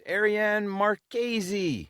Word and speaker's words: Ariane Marchese: And with us today, we've got Arianne Marqueesy.